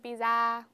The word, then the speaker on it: pizza: pizza pizza pizza yeah it is a z but we don't drag it out too much it like a broken